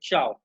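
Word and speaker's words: ciao: ये इसकी स्पेलिंग इस तरह से लिखी जाती है, बट वी प्रोनाउंस इट चाव।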